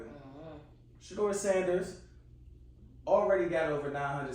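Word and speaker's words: Shedeur: I just want to make sure I'm pronouncing it correctly. Mm-hmm. Shador Sanders already got over 900 something passing yards.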